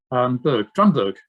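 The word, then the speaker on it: Drumburgh: Well, you can call it Drumbruff because that's what it's spelled. Oh God, I can never remember which way round it is. Drumburg, that's it.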